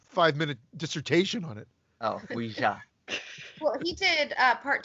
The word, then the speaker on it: Ouija: Like, how do you fucking pronounce that? God, a Ouija board? Midsommar. A Louise board? I say Ouija.